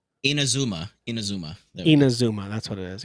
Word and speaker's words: Inazuma: Inazuma.